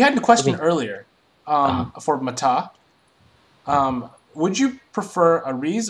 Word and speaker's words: Matah: Guys, you all know that Matah is the right way to say this, because 2 syllables. Matah.